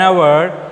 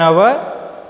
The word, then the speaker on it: hour: An is used before consonants when the H is silent, like an hour, an honorable, an honesty. Okay, an hour, an honorable, a honesty, an honesty.